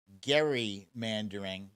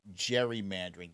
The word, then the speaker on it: gerrymandering: should have been pronounced gary mandering but at some point gary mandering became gerrymandering they just made the hard g into a soft g uh so back in